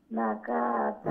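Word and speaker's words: نَاقَةَ: আশকাহা ফাকালা লাহুম রাসূলুল্লাহি নাকাতা না না না না, নুনের পরে আলিফ মাদ্দা আছে, নুনের পরে আলিফ মাদ্দা আছে, নাটাকে এক আলিফ লম্বা করে পড়তে হবে।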